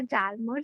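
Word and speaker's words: Hjalmar: Okay, इसको जालमर मत बोलना बच्चा, एच साइलेंट है यहाँ पे, तो ये वर्ड कैसे प्रोनाउंस होगा? जालमर सैचेट।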